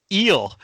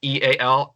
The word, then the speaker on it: eal: You guys have been pronouncing my name incorrectly for a while now. Oh, wow. Well, I've been pronouncing it because it's my initials. It's EAL are my initials, so that's how I've been pronouncing it. EAL.